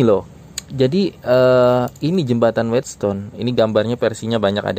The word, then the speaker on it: Wheatstone: yang ada kaitannya dengan jembatan wheatstone apa sih whetstone ya kira-kira gitu ya bacanya web itu kan gandum